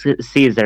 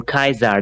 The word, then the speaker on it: Caesar: me in the eyes julius caesar 1982 or kaiser depending on the latin pronunciation that's important roses are